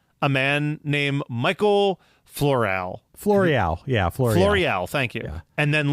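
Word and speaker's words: Floreale: I believe I'm pronouncing that correctly. And he found a man named Michael Floreal. Floreal, thank you.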